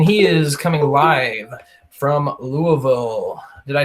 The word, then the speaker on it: Louisville: Louisville, Kentucky. Yeah. Pretend like you've got something in your mouth as you're saying it. Louisville. Yep, there you go. Man, I'm ready. Not Louisville. No Louisville?